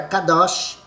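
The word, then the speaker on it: קדוש: velho testamento hebraico e a pronúncia desta palavra santo no hebraico era Kadoshi Kadoshi Kadoshi o que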